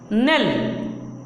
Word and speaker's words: knell: नेल, KNELL, इसमें के silent है।